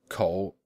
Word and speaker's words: 口: In like manner, the words for mouth, to rap, and a button were all pronounced ko.